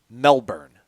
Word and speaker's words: Melbourne: It is definitely pronounced Melbourne. My man Alex Mastromano can confirm it's pronounced the same down under.